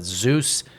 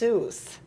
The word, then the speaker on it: Seuss: I mean, as far as a live action version of a Zeus Kelly, you know story. it's Seuss. It's not Dr. Zeus.